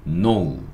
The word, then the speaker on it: know: 아무튼이 K는 발음하지 않습니다. 그리고 N. N은 니은. Ow. 뭐라고요? 그러니까 요거는 노. 노우. 이렇게 발음합니다.